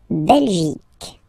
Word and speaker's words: Belgique: La Belgique. Okay, remember, Q, U, E here. You will get only the sound okay, Belgique, Belgique, so it's not Belgique, not at all, okay, because it's only the K, K, Belgique, okay.